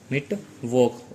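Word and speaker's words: Mittwoch: और मैंने बताया था CH से पहले अगर O आता है, A आता है, U आता है तो इसकी प्रोनाउंसिएशन ख होती है। तो यहाँ पे हो गई मिट वॉक।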